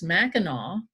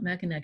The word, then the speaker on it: Mackinac: In his field notebook, he writes Mackinac as ending in AW every time, because that's how they pronounce it, okay?